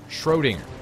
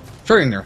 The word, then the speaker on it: Schrödinger: I can never pronounce the name. Schrödinger's, something like that. Schrödinger. Schrödinger.